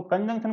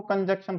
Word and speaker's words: conjunction: अब कुछ लोग तो इसका प्रोनाउंसिएशन करने में बड़ा गड़बड़ करते हैं, कंजंक्शन को कंजक्शन पढ़ देते हैं। है ये कंजंक्शन, मतलब CON कॉन, उसके बाद जंक्शन, जैसे मथुरा जंक्शन है आपका, ठीक है, आगरा जंक्शन है, उस तरीके से आपका कंजंक्शन।